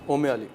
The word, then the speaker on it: Umali: ओमे अली। ओमे अली, ठीक है। अच्छा जी, ओमे अली के लिए आपको दूध हमने लिया था 250 ग्राम, 1 कप भर के।